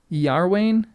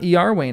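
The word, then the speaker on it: Iarwain: Yarwinne is it? So it's not Yarwain, it's Yarwin. Kindar.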